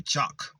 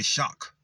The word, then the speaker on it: chakra: Chak. Ra. Some people say chak. Some people say shock. It's chak or shock, isn't it? It can be either one.